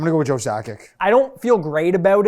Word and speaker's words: Sakic: What I do know is I know Joe Sakic led like an Olympics in scoring.